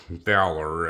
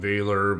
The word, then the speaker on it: Valor: Dan Wesson this is a Dan Wesson uh Valor as the viewer said that you should pronounce it I've always called it veiler but I guess none of that matters folks